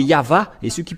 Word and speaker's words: Yahvah: à W é= ou c'est toujours le V la vraie appellation c'est pourquoi c'est yava et ceux qui prononcent